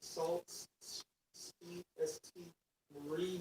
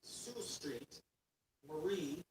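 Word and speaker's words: Sault Ste. Marie: ST Salt Street ST Marie, Michigan.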